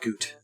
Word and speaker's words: gout: Gout used to be pronounced goot.